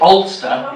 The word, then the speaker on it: Alcester: ] me oler how is that how we pronounce it olster yes olster sorry not olster in nor Ireland